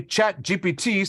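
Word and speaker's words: ChatGPT: speakers right now because in French, phonetically, chat GPT sounds exactly like cat. I farted.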